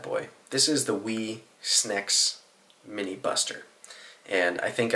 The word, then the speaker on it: Snecx: I assume the way to say Snecx is Snecx, because it's spelt S-N-E-C-X, so I guess it could be Snecx, but I think it's Snecx. That's the only way I've heard it said.